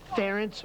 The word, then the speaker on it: Ferentz: it's parents remember parents rhymes with parents right it's ferrets didn't you just hear Pat McManus Ference rhymes with parents apologize